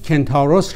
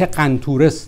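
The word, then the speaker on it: Kentauros: گفتم که در عربی نام کنتاروس را مخدوش کردند و به صورت قنطورس درآوردند. من نمیدانم که چرا ما باید در فارسی این واژه یونانی را مانند عرب‌ها تلفظ کنیم، حالان که بر زبان آوردن اصل آن برای فارسی زبانان دشواری ندارد.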